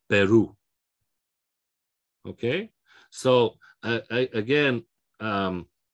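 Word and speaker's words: Perú: syllable the penultimate syllable what this little accent is telling us is no actually we're going to go against the normal rules the stress is going to be there it's going to be on the final syllable so instead of peru which would be without the accent is peru okay so again um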